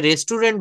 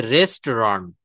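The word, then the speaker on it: restaurant: তো এই যে শব্দটা আমি বললাম রেস্টুরেন্ট এটা রেস্টুরেন্ট বলা যাবে না। এটা হচ্ছে রেস্টরন্ড।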